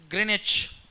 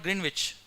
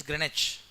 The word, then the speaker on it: Greenwich: It's pronounced as Greenwich. W silent. It's not Greenwich. It is Greenwich.